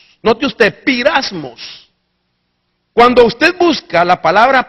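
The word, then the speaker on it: πειρασμός: Entonces, la palabra se escribe o se pronuncia pirasmos. Note usted, pirasmos.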